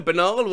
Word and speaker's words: banal: west's name as kaney didn't know banal armed with canal i've been pronouncing it like anal with a b for years i'm over 50 and